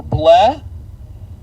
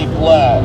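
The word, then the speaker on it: Blea: Or bleh. Bleh just sounds not right, but it's spelled B-L-E-A. I hope that's pronounced correctly when I say bleh.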